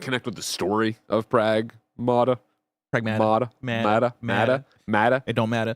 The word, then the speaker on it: Pragmata: Pragmata I think has really great moment-to-moment gameplay.